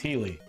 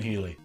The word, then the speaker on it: Heli: people are like dude it's healy like it's always been healey you know what why